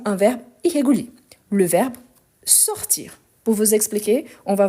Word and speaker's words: sort: sors, il, elle, on sort. Donc, ici, on a le S qu'on ne prononce pas. Je sors, tu sors. Ici, on a il, elle, on sort avec T qu'on ne prononce pas non plus.